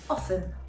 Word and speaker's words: often: water when in reality for the word often it should be silent word number four that